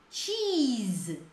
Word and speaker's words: cheese: Cheese, ó, faz um tchan no começo e dê um i comprido assim, ó.